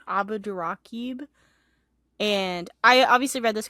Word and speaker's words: Abdurraqib: Abdurraqib. Abdurraqib.